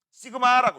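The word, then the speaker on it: σ: 전기 전도를 요렇게 씁니다. 시그마라고 읽어요.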